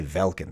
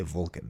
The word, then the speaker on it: Vulcan: Irish people would not, they don't say Velkin, they say Vulcan, right?